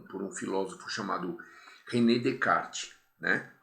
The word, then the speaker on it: Descartes: um filósofo chamado René descart né se escreve Descartes como a gente deve ter visto o ano passado e vocês devem ter anotado aí mas se fala descart porque ele era francês muito bem gente vamos